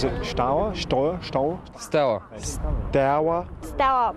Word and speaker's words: Steaua: acceptable to mangle pronunciations, this team was known as Steaua, rhyming with Toya. Now, of course, we know better. Is it Steaua? Steaua? Steaua. Steaua. Steaua.